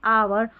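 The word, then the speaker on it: hour: कुछ शब्दों में एच नहीं पढ़ा जाता, विशेषकर यहाँ पर स्पेलिंग्स दे रखी है, इनको याद कर लें। जैसे ऑनेस्ट ये दे रखी है ना, ऑनेस्ट, आवर और ऑनर।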